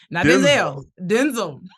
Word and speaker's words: Denzel: Eddie Murphy Denzel Denzel Denzel like tinsel let's say he said